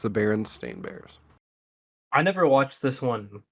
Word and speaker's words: Berenstain Bears: Yeah, you would think. This is what it actually is, according to this universe. The Berenstain Bears. Yeah. Most people remember Berenstein Bears.